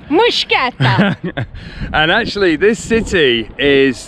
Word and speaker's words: Mtskheta: A Georgian told me how to say it, and I know it's completely wrong because I don't have the accent, but it's something like that. Mtskheta!